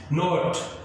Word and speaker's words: knot: नॉट KNOT नॉट गांठ, यहां पर के साइलेंट है, नॉट का मतलब गांठ, और NOT नॉट नहीं।